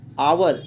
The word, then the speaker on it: hour: Dear students, the word hour starts with the pronunciation a. That is, it gives the pronunciation of vowel sound.